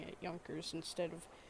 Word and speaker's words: Junkers: i pronounce the yankees wrong i just like pronouncing it yonkers instead of junkers or whatever i also have the poorly made